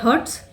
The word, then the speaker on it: heart: तो HEART, जहाँ पे दिल की बात हो रही है, वहाँ पे इसकी प्रोनाउंसिएशन होती है हार्ट। आपको लॉन्ग आ बोलना है तो हार्ट है।